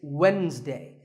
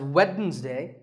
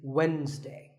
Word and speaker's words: Wednesday: of the week it's Wednesday the D is silent sometimes it's pronounced as weddings day but the proper way to say it is Wednesday what about this word